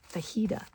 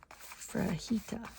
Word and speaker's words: fajita: And we're always like mom there's no R in fajita. Fraita. So now I think what